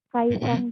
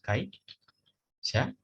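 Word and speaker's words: 会社員: Kai, ada yang kurang? Penyebutannya? Sumito-san wa kaisan desu. Maaf ya, di sini saya kurang jelas. Soalnya, terima kasih Yayan-san. Saya kades benar ya. Kai, itu pegawai perusahaan tadi itu kai. Shain. Jadi, Sumito-san wa kai shain des.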